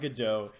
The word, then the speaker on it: Godot: to like go to how is it pronounced go.godo I I I'm pretty sure it's Godot I've heard a most people call it good Joe and the very first